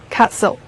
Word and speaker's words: castle: Castle, 城堡 castle. 注意 t 是不发音的 castle.